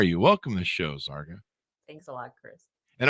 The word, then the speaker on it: Zarqa: welcome to the show zarga thanks a lot chris and have i got all the pronunciations of everything there right there's a lot of yes zarco rhymes with parka there you go all